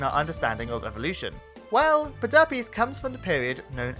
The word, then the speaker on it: Pederpes: piece in the evolutionary puzzle, Pederpes. No, that's actually how it's pronounced.